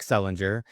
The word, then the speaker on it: Selinger: your last name yeah in North America it's hard G yeah all right well there you go ladies and gentlemen this is Derek Selinger the amazing Derek Selinger